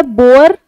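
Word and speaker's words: boar: First है बोअर और बोर। First pronunciation भी पर भी आप प्लीज फोकस करना, मैं किस तरह से प्रोनाउंस कर रही हूँ। बोअर और बोर।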